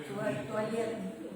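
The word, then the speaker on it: туалет: Pero con la L es suave. Toallet.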